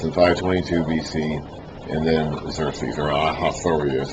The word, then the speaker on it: Xerxes: That's in 522 BC and then Xeros is how you pronounce it.